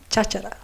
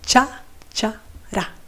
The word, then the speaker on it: cháchara: There is another colloquialism, which is cháchara. Not just one, but two. Cha-cha-ra. Once again, phonetically speaking, Spanish can be very simple. So besides the ch, that usually everybody can do it, like when you do sh, ch.